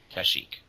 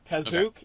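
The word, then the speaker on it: Kashyyyk: in the final film kashik yes that that's okay that's the that's right that's the uh uh wook home world yes that's the that's the official pronunciation kazuk in the uh holiday special is wrong yes the reason why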